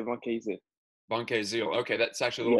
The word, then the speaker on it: Vancaeyezeele: To be fair, even in France, they cannot pronounce my name, so that's fine. My name is Vancaeyezeele. They say Vancaeyezeele.